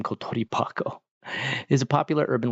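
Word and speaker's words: コトリバコ: I can't remember if it's Kotori Bako or Kotori Hako. Yeah, Kotori Bako. Okay. Sometimes the letter change. Well, I shouldn't say the letter. It's this pronunciation of the kanji. It sounds like a Kotori Bako.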